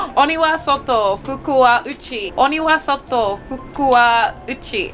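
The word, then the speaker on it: 鬼は外、福は内: Oniwa soto, fukuwa uchi.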